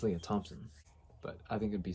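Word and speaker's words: Lea Thompson: would have passed away well i was saying her name wrong it's leah thompson but i think it'd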